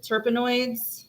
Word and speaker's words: terpenoids: We even looked up how to say this word, terpenoids. Was I that think correct? that's right. Yeah, Okay, terpenoids.